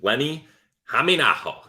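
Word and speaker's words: Lenni Hämeenaho: Great job nailing that pronunciation. Lenni Hameenaho.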